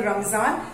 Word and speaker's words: Ramadan: Children, this is written Ramadan. In Urdu it is called Ramzan. Okay, in Urdu it is called Ramzan, but in English it is called Ramadan. RAMADAN, Ramadan. Okay, but if you say Ramzan, then also it is correct, Ramzan or Ramadan.